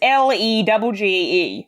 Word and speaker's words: Legge: I'm assuming that is actually pronounced Leg. It's Legge. Yeah. Leg.